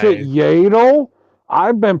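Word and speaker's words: Yaddle: yal you pronounce it yel I've been pronouncing it yadle don't matter don't matter it looks like it's spelled like saddle but with a Y no it's like [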